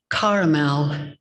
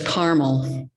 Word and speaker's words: caramel: I remember how the upper crust in my hometown pronounced it caramel, which is correct, I guess, but to everyone else it was caramel, which led me to the misconception about the order of Carmelites.